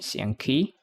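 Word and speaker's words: 象棋: Like in Xiang Kui. How do you say Xiang Kui? Xiang Qi in Chinese chess.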